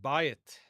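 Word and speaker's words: בַּיִת: Next we have bayit.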